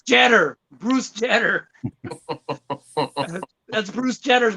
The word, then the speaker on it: Jeter: I thought it was Jetter, like cheddar. Bruce Jeter.